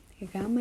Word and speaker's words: gamma: cool things like that then we have GMA gamma is the hardest letter for English speakers to pronounce or to learn at first GMA GMA